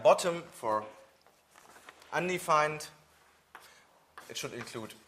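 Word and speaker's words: ⊥: and that stands for bottom so this is pronounced bottom and this is a special value which stands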